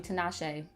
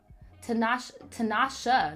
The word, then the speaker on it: Tinashe: I almost called you Tinashe. Tinashe, not Tinashe.